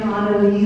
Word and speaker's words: AnneLise: So I am AnneLise, is the pronunciation.